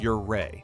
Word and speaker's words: Ouray: Known as the Switzerland of America or Little Switzerland depending on who you ask and pronounced Ouray if you want the locals to respect you.